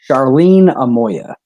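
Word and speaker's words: Charlene Amoia: i met your mother charlene say it again charlene amoya there you go uh i for those of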